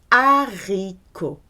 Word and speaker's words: haricot: You cannot hear H whether it's aspirated or mute. It is pronounced haricot. This is one of the very few words that begin with H that is aspirated.